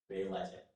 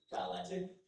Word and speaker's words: balletic: Your word is Bayletic. Can I please get the definition? Yes, and I'll actually correct my pronunciation here to give you a better pronunciation. Your word is balletic.